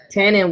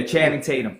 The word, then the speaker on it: Channing Tatum: Uh uh uh Tannon would be uh Did I say his name right? You was close. Yeah. Channing Tatum.